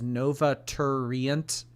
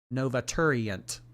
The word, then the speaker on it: Novater: Take my money, but can you also pronounce my name as Novater? Nova Turent. Novater. Okay. Four syllables.